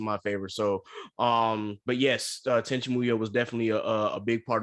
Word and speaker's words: Tenchi Muyo: pronounced? Oh yes, Tenchi Muyo.